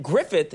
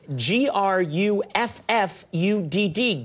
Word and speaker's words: Gruffudd: a n yes and then Griffith is gr u FF u DD Gruffudd yes that's that's how you would pronounce it yes phonetically look yes